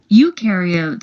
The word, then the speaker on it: eukaryote: Eukaryotes, on the other hand, remember eu rhymes with do, and they do have a nucleus, and other membrane-bound organelles.